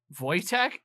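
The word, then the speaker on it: Wojtek: notes up of I want to pronounce this right voch voytech voytech it sounds like either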